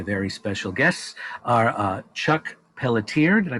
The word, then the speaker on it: Pelletier: Today, my very special guests are Chuck Pelletier, did I pronounce that properly?